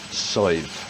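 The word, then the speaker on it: Sadhbh: messes with people's head it's pronounced side right you don't say the d and yet again there's no v and it means sweet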